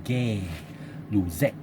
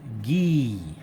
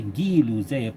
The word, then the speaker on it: Gay-Lussac: Okay, of course we don't pronounce as Gay-Lussac law. Okay, it is not pronounced as Gay-Lussac's law because this is a French, so we pronounce as Guy-Lussac. Okay, Guy-Lussac pronounced as this one,